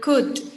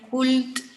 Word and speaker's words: could: Could. Pronunciación, chicos, no digan could. is could. Could. La L es muda.